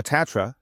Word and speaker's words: Tatra Bank: Here, Tandra Bank, uh, Tatra, Tatra Bank, have to pronounce it correctly, part of the RBI group with several million customers.